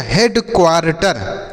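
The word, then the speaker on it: headquarter: को हम पढ़ेंगे टर तो आप खुद ही पढ़ के देखिए क्या लिखा गया है एच ई ए डी हेड क्यू ए से पढ़ेंगे क्वा आर से र टी ई आर से टर तो ये हो गया हेड क्वार्टर क्या हो गया बच्चों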